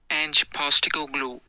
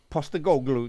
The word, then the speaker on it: Postecoglou: Ange Postecoglou. Postecoglou.